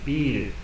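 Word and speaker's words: ビール: Biru, na verdade. É mais assim a pronúncia, né?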